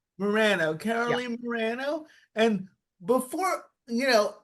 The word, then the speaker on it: Morano: Morirano. Morano, Caroline Morirano.